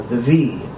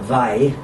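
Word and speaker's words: Viy: titles, but it's based on the V, or the Vai, however you want to pronounce it, which is a short story by Nikolai Gogol, the Russian-Ukrainian author.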